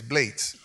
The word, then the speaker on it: Blades: He was English, so the original pronunciation is Blades.